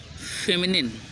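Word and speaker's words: feminine: अगला है फेमिनिन, spelling फेमी, FEMI, फेमी, और फिर उसके बाद 9, फेमिनाइन लिखें, लेकिन पढ़ें क्या?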